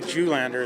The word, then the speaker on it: Julander: My name's Julander. It's spelled R-A-N-D-Y-J-U-L-A-N-D-E-R.